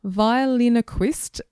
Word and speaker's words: Violinoquist: Violinoquist Roz. It looks like ventriloquist, but it is violinoquist.